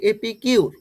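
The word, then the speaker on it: epicure: এবার আমরা করব এটার উচ্চারণ কি হবে এটার উচ্চারণ হবে এপি কিউর এপি এপি কিউর এই উচ্চারণটা দেখো এপি কিউর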